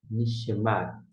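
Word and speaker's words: נִשְׁמַת: É este aqui, ó, que a gente vai pronunciar. Ni nichemat. Nichemat.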